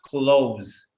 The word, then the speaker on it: clothes: I'll write it but I write it how it's pronounced now that's not how you spell cloes but I'm trying to write it how it's pronounced close that's it clothes plain and simple why is it spelled